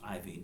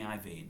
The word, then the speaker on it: Iovine: I think it's pronounced Iovine. Jimmy Iovine. I'm pretty sure it's right.